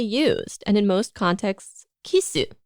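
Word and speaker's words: キス: But this word is rarely used, and in most contexts, kisu, the Japanese pronunciation of the English word kiss, is used, again, emphasizing the foreignness of the act itself.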